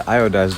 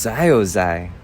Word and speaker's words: iodized: Make sure you grab the iodized one over there. What? What's Zyozai? It's pronounced iodized, dummy.